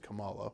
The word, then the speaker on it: Kamala: you do good in Miss Marvel it is pronounced Kamala which is confusing because I don't believe that's